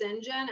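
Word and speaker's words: St John: character you mean and his name is sinjin and it's about like saint john and you're just supposed to know it's pronounced sinjin and maybe back then people just knew that that was pronounced sinjin but like what what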